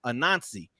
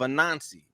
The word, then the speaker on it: Anansi: But there's I hope I pronounce it the right way, but it's Anansi, Anansi.